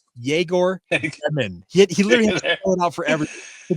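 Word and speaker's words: Egor: getting on social media and saying everybody it's jagor he he literally out forever don't feel bad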